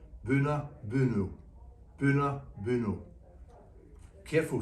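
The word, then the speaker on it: Boonoo Boonoo: animals to provide food, pronounced Buna Buno. We're sure if you try you can say it too, Buna Buno, Buna Buno.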